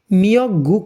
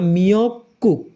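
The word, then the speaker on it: 미역국: soup পড়ি তাহলেই হবে শৈবালটা সমুদ্রেই হয় নিয়ক্ক মিয়ক গুক না মিয়ক কুক কেন গিয়কের পরে গিয়ক আছে উপরের গিয়কটা সাংকের উচ্চারণ হবে মিয়ক কুক শৈবালের সুপ আবার রিপিট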